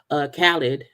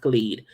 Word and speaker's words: Khalid: Cole, Florida Georgia Line, Khaled, or Khalid. Not but yeah, it's name pronounced Khalid. It's pronounced Khalid.